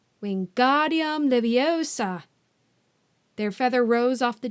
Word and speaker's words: Wingardium Leviosa: having much more luck Wingardium Leviosa he shouted waving his long arms like a windmill you're saying it wrong Harry heard Hermione snap its Wingardium Leviosa make the GAR nice and long you do it then